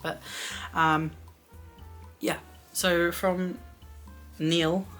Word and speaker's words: Neil: um yeah so from Neil I keep wanting to say Nile but I know it's not how that's spelled um yeah so like